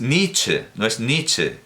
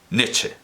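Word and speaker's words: Nitzsche: ser en vocal trabada, o por lo menos en inglés se pronuncia con I larga.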